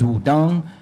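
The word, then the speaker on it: Wudang: at first it was the proper way to say is Wudong, so I was like, is this something else?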